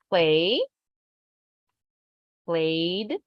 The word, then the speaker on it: played: repeat with me played play Ed how do you pronounce it only a simple D played played played so the